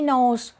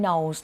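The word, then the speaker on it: Knowles: คำ ว่า She Knows Knows มัน ไป พ้อง เสียง กับ นาม สกุล Beyonce Knows ค่ะ สะกด ต่าง กัน นิด หน่อย แต่ ออก เสียง เหมือน กัน หลาย คน ก็ เลย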